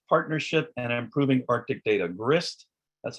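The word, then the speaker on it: GHRSST: continuing the grist partnership and improving arctic data grist that's how you pronounce it is an acronym stands for group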